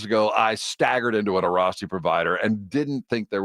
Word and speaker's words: Airrosti: About 8 years ago, I staggered into an Arasti provider and didn't think there was an answer.